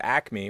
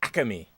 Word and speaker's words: Acme: when you're from philly a lot of people don't call it acme for whatever reason they add like extra syllables to it so it's the acame i'm gonna go over to the acame like what but it's